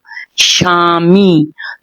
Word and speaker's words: স্বামী: বানানদন্ত সয়বয় আকারময় দীর্ঘ আমরা কিন্তু স্বামী বলে ওই বটাকে উচ্চারণ করছি না সেটা সাইলেন্ট ব সাম দন্তসয় বয় আকার ময়